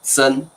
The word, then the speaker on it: 曾: 这个曾已经不念曾了，我们念成曾。